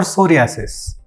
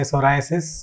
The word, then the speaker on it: psoriasis: Today I'm going to discuss with you about psoriasis or psoriasis. There are different pronunciations for that. Some of us prefer to say psoriasis, which is the American style, and Indian style we say psoriasis.